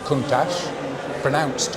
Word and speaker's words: Countach: It's pronounced Countach, and in the dialect of the area, Countach is an exclamation.